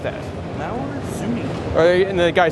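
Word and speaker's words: Mauer Söhne: And now I've always thought it was Mauer Schoen, but it's actually Mauer Zuni. Mauer Zuni. Zuni was how they pronounced that. Mauer Zuni.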